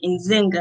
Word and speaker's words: Nzinga: from rochester new york he said in zynga i said yes he was like okay